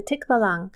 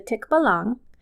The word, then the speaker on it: Tikbalang: Before we continue, there are two ways to pronounce this creature's name. The first is the Tikbalang, and then in other regions, they pronounce it Tikbalang. I'm going to do Tikbalang because that is the one that is most natural for me.